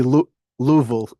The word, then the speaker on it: Louisville: Should be should be Louisville Louisville slugger. Two syllables.